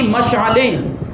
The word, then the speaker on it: مشعل: اور کافوری شمعیں تھیں۔ وہ مشال جو کہتے ہیں نا، مشال کہہ دیتے ہیں، لیکن یہ عربی تلفظ کے اعتبار سے مشعل ہوتا ہے، اور اردو میں مشعل کہہ دیا جاتا ہے۔ وہ لکڑا ہوتا ہے